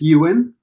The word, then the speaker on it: Ewan: not mispronounce your name you did actually it's Ewan that's my entire life